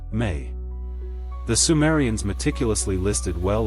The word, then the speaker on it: Me: Inana carried in her boat the mi pronounced may.